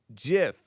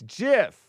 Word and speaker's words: GIF: No, it's not GIF. It's GIF. It's GIF. Chris, I'm gonna fight with you guys. But I accept GIF because I feel like uh and I call it Ethernet.